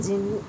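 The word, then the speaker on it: Djinn: आपकी जो second book है it's happen the जिन। D silent रहेगा इसके अंदर जिन की में, ठीक है।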